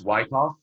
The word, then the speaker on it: Wyckoff: Hey, by the way, Wyckoff, did I pronounce it right? It's Wyckoff. It's Wyckoff. Okay.